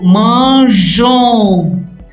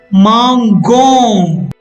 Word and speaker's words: mangeons: But in the new conjugation, if E is not added after G, the conjugation will become mangon. In order to retain the pronunciation of GER, we add E and thus manger, mangeons.